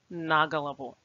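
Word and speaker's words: на голову: as one word and it is the preposition that begins to carry the stress so here the stress falls on na and it must be pronounced as naggleable now let's see how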